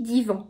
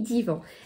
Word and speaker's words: Dewan: Voilà, alors ça se dit divan plutôt. Ça s'écrit D-E-W-A-N, et ça se lit divan.